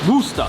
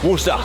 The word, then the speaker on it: Worcester: It's Worcester. Worcester. Worcester. How do you pronounce it on my hat?